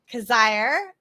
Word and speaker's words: Coziahr: So I am with Barry Coziahr. Did I You say it did it. right? Yeah, that's right. Rhymes with desire, he told me.